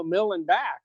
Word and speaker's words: Millenbach: Millenbach, I believe I just said, no, Millenbach, I believe is the correct way to say it.